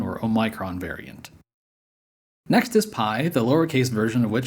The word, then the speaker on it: pi: Both the ancient and modern Greeks call this letter P, not pi.